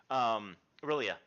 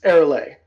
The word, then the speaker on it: Aurelia: And so in this case, for you, Aurelia, give me a luck roll. Wait. Who? You, really? Aurelia. Oh, it's Erele. That's how we pronounce. But I was saying Aurelia.